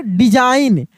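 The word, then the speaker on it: design: डिजाइन। यहां पर भी जी क्या है?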